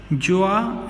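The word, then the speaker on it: Gjøa: जोआ जो है ये एक इसमें जी जो है वो एब्सेंट होगा, साइलेंट होगा सॉरी, और जोआ ये एक छोटी कश्ती को कहते हैं.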